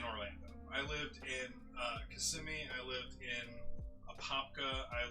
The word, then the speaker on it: Kissimmee: say it again kissimmee i always thought it was kiss on me no it's kissimmee oh i never like questioned that in my head it was just like kissing me like like italian like kiss me no uh everyone who